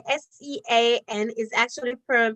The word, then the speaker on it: Sean: about that Kalisha all right so brick say s e a n is actually per pronounced Sean all right but okay so I thought it was but bricks you say it is actually pronounce Sean all right so thank you for that pronunciation